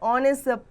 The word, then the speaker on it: honest: Example: an hour, an honest man, an honor. The beginning H is silent in these words.